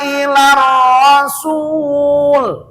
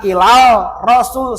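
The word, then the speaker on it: إلى الرسول: Jikalau ada tulisan ada alif dengan lam ke depannya ada huruf yang dimusyaddah sabdu, maka lamnya jangan dibaca. Kayak contoh di sini, jangan ilal rasul. Salah, salah hukum.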